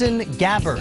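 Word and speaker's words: Gabbard: Boston Red Sox KAS gabber I'm told it rhymes with scabard right and they have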